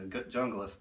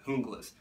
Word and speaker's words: Junglas: That's more the correct pronunciation than the Junglas that I said earlier in the video, that it is Junglas, named after the anti-narcotic special forces of the Colombian police.